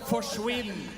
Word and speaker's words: forsvinn: In Norway, we have a word that's called forsvinn, and it rhymes with quinn.